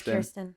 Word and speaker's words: Kirsten: Okay, it is Kirsten. Okay, Kirsten. Sorry for the mispronunciation earlier, Kirsten.